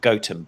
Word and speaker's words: Gotham: outside of nottingham called goatum but it's spelt gotham and that is apparently